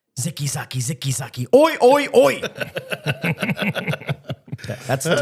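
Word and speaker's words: Zicke Zacke: I just remember the man show and the old guy always went zicky zagi, but apparently it's zicky zaki.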